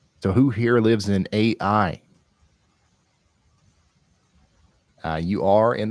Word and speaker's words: Ai: happening over here in AI oh it's it's pronounced I how unique I was going to say this this might be a good place to you know send ybot to It's pronounced I though okay I love it